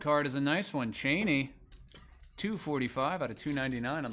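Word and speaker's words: Chani: It is Cheney. And I know that for sure because I looked it up like 15 times. At least that's how Frank Herbert, the writer of the book, pronounced it in his audio book.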